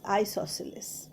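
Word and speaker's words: isosceles: next I এস ও এস সি ই এল ই এস আইসোসিলিস আইসোসিলিস আইসোসিলিসে সি উচ্চারণ হবে না আইসোসিলিস সি উচ্চারণটা না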